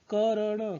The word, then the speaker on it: कर्ण: उच्चारण करने के लिए यह याद रखें कि जिस वर्ण के ऊपर यह मात्रा लगी हो उस वर्ण से पहले रो का उच्चारण होता है।